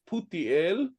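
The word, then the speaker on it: פוטיאל: They were transcribing a Hebrew name that we pronounce in the Hebrew as Putiel to Futiel, which means that both the sounds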